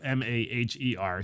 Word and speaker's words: Maher: I always wish he would just spell his name M-A-R, but it's M-A-H-E-R. So it looks like it's Maher, but it's Bill Maher, right?